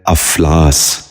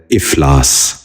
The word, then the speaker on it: افلاس: غور سے سنیے، افق۔ دوسرا لفظ ہے افلاس۔ یہ غلط تلفظ ہے، درست تلفظ ہے افلاس۔ دوبارہ سنیے، افلاس۔ بچوں